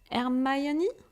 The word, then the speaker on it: Hermione: the pronunciation in English, Hermione? In Harry Potter. In France, we are calling her Hermione. So really, the difference between Hermione and Hermione, it's so different, But I was really like that, like doing my homework, planning everything.